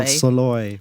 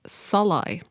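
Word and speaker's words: Szalay: pronunciation for hungarians is salai you know I've got to say all pretended we heard a difference we all nodded very sagely well emphasis on the first syllable those at the book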